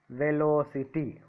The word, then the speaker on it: velocity: Ty is the first syllable. Ci is the second syllable. Lo is the third syllable from the end. Velo. So I kept the stress mark at L.